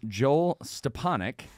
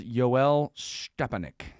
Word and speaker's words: Joel Stepanek: And we're joined again on our bonus edition episode by none other than properly pronounced name Joel Stepanek. And, very good, yeah. But he also likes to be called Yoel Stepanek.